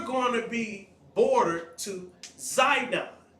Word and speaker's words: Sidon: to be bordered to zidon which is called also pronounced sidon and we see that